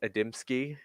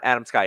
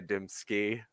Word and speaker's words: Adamski: I'm actually planning on creating a TikTok as to why it's Adamski. And it's not Adam Sky. Everyone says Adam Sky to pronounce it, but it's actually Adamski Fantasy.